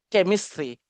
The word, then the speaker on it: chemistry: Okay, le CH se prononce comme K, chemistry.